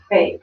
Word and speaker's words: Fate: And I texted him and said, hey, how do you pronounce your last name? Because I want to do a little promo. And he's like, it's Fate. Without writing it, kind of in parentheses, dumbass.